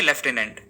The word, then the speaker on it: लेफ्टिनेंट: Basically American English में इसे as lieutenant pronounce किया जाता है और ब्रिटिश इंग्लिश में लेफ्टिनेंट। इसलिए सभी कॉमनवेल्थ कंट्रीज में इसे एज लेफ्टिनेंट प्रोनाउंस किया जाता है। एंड फॉर the same reason India में भी लेफ्टिनेंट ही बोला जाता है।